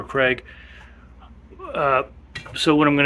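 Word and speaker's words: Kreg: they can connect um it's spelled k r e g Craig Craig or Craig uh so what I'm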